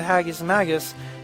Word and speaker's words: Haggis Magus: He was mostly known as the Haggis Magus and insisted on the rhyming pronunciation.